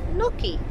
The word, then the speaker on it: Knokke: leaving Rouge and we're going to Nucky that's how you pronounce it all the lovely women